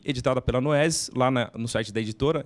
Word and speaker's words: Noesis: Noesis é como se escreve como se diz, Noesis.